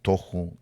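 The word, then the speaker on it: תֹהוּ: la palabra 922 boju algunas personas les dicen el tahu y el baju pero está mal pronunciado la verdad es de que es toju y boju a veces cuando uno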